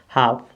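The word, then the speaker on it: half: तो देखिए एल के बाद एफ है एफ साइलेंट लेटर तो इसको पढ़ेंगे हा क्या पढ़ेंगे हाफ हाफ मींस होता है आधा क्या होता है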